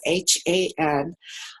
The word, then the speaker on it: Han: In English, we spell it with spelled as H-A-N, Han.